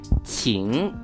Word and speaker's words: 晴: The middle character being pronounced 晴 with 第二声, which means clear weather.